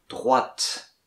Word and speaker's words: droite: Tournez à gauche, allez tout droit, tournez à droite. Droite, T-E, on ne dit pas le E, mais on dit le T avant le E. Droite, comme en anglais, right, il y a T à la fin.